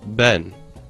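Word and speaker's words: בן: i am then the letters bet noon pronounced ben this word means son or descendant in both hebrew and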